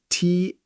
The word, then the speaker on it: taught: Yes, it is spelled T-A-U-G-H-T. It's a strange word, but it sounds like taught.